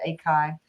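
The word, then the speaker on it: ACHI: the data assets at Akai ikai um not atchi which is what I said the first time I came here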